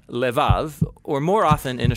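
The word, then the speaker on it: לב: this prayer heart which in hebrew is sometimes pronounced lev or more often in a shorter form lev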